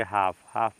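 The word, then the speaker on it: half: पर देखिए यहां पे एच ए एल एफ है तो एल के बाद ही तो एफ आ रहा है इसका मतलब एल साइलेंट हो जाएगा जब एल आपका साइलेंट हो जाएगा तो क्या पढ़ेंगे बताइए क्या पढ़ेंगे बताइए इसको तो इसमें आप लोग पढ़ेंगे एल साइलेंट तो इसको पढ़ेंगे हाफ हाफ मींस आधा इसमें से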